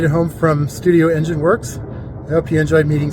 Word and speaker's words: Werx: Studio Engine Works, and Works is spelled W-E-R-X. I had to be different for some reason, but I like it.